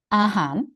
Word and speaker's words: อาหาร: ends with this guy, the R becomes N sound. So it's actually han instead of har.